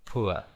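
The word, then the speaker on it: poor: otro dist tongo ua Como por ejemplo pua que significa pobre o también esta palabra admite otra pronunciación es po con o larga que significa lo mismo pobre Lo que pasa que admite dos pronunciaciones o esta una gira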